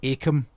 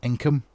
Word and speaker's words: Akam: And also, it's pronounced Akam. There's people that pronounce it Inkum.